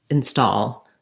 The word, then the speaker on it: install: that gives you trouble start with a stressed syllable stall and then add your unstressed syllable as a light little touch rather than starting from the beginning where you're going to go to any of your accent patterns and habits break it up start it a new way stall install so that my in is just a light stepping stone to my main stress syllable stall that also gives you